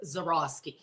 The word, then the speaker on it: Zahorouski: Z Well, very anglicized is Zaroski. Zoroski.